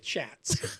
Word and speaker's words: Schatz: is horrible representative shots we apologize for Jim's pronunciation it's not shots it chats anyway so he's published